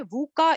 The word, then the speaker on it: VUCA: तो आजकल जो सबसे ज्यादा मशहूर हो गया है बच्चों, वो है वूका इंडेक्स। शायद आपने इसका नाम नहीं सुना होगा। इसका स्पेलिंग है VUCA इंडेक्स।